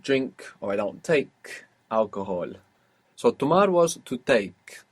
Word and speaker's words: alcohol: no tomo alcohol. Alcohol. Alcohol. Good, because we don't pronounce H in Spanish, do we?